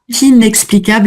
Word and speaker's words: inexplicable: Inexplicable, là je prononce bien le i parce que la nasale tombe derrière, j'ai une voyelle.